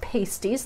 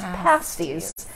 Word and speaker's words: pasties: The week after, I'm going to try my hand at Cornish pasties, which are not pronounced pasties, they're pronounced pasties.